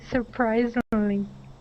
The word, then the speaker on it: surprisingly: here is surprisingly okay make sure to pronounce that Lee at the end okay surprisingly Sur good one more time surprisingly surprisingly surprising the accent is right here on that that r i surprise surprising surprise surprising